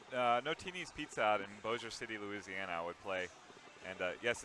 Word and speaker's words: Bossier City: the arcade yeah no TVs peeps out in Bossier City Louisiana would play and yes it's pronounced Bossier City and not Massey a or whatever you might think in it but